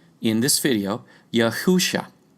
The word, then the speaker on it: Yahusha: By the way, we call Messiah by his Hebrew name in this video, Yahusha, pronounced phonetically rather than Jesus, which is a transliteration 3 times removed.